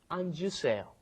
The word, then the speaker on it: 앉으세요: If you just say it when it's up against another consonant, it comes out anta, but then when it comes in front of another vowel, you end up pronouncing the J sound at the end. It comes out 앉으세요.